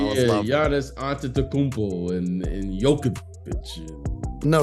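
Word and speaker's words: Jokić: You were saying some crazy pronunciations of Giannis' name. I was laughing. Giannis Antetokounmpo and Jokic. No, Jokovic is not a no.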